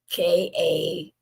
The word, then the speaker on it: Knarrative: already, to connect with Knarrative by Karen Hunter. Knarrative. Knarrative. It's like narrative with a K, or maybe it's narrative. Girl, slap me. I should know KN is silent.